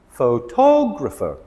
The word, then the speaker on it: photographer: But with this word here, a person taking photographs. Photographer. We stress the tog.